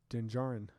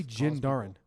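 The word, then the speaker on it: Din Djarin: does that end for denjarin did i say it right yeah he just flies away and i always say jin darin you got it right don't don't mess it up you got it don't even think about it now i always say it wrong yeah you do sorry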